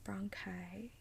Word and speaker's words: bronchi: um bronchi wait wait oh bronchi that's how you pronounce it bronchi the ER ink I